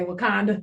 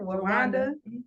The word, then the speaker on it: Rwanda: what Rwanda I said I want to say wakanda is that how you say it Rwanda okay okay I was just making sure I said it right um was serving 25